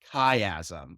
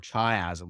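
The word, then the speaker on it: chiasm: known as the optic kaym or Chasm whichever way you want to pronounce them so that's what that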